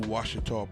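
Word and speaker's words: Ouachita: If you ride through Louisiana on I-20, you go through Washita proper, and it's spelled with an O-A-C-H-I-T-A because the French, Marquis Maison Rouge,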